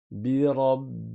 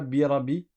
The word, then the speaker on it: برب: Attention, c'est pas birabi, birabi. Non, il y a une shadda, ça veut dire qu'on reste appuyé sur le ba.